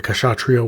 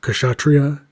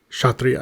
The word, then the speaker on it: Kshatriya: So I got several comments saying I mispronounced this word, and that the K should be silent. So instead of Kshatriya, it should sound more like Kshatriya, I believe, or Kshatriya.